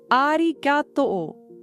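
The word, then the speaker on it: ありがとう: It's pronounced arigato, with each syllable given equal emphasis.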